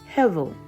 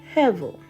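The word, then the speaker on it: הבל: And in Hebrew, Abel's name means breath or vapor, and it's pronounced Hevel. Hevel.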